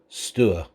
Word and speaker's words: Stour: is spelt stour we are using the local pronunciation stewart indeed the county of suffolk does have its